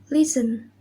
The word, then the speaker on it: listen: The next is Letter T. Rule. T is not pronounced in these common words. Example: castle, Christmas, listen, whistle, and a puzzle.